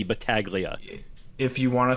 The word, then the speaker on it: Battaglia: If you want to be American about it, you can go hard G. I I I usually just say Baglia, but I I always appreciate when when people go Battalia.